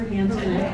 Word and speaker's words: Hansknecht: Put your hands together, Hansknecht. That's how you say my name.